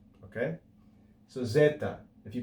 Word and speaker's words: zeta: But in classical studies, normally, this is actually pronounced as a double consonant. Z, z. Okay? So zeta.